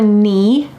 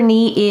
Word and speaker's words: knee: Then below your knee, notice that the K is silent, below your knee is your shin, your shin.